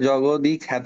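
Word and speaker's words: জগদ্বিখ্যাত: খ্যাত এইটা এইটা আবার দ বফলা যখন দ এর সাথে যুক্ত থাকে ওটা তখন সাইলেন্ট থাকে বুঝছো মানে তুমি এখানে জগদই খ্যাত বলতে হবে দেখো আমি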